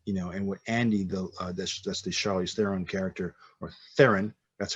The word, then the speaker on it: Charlize: And what you do at that time, and what Andy, that's the Charlize Theron character, or Theron, that's how you pronounce it, Theron, Mhm.